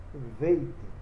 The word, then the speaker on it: veit: Então, ele com pontinho é beit, ele sem o pontinho é veit.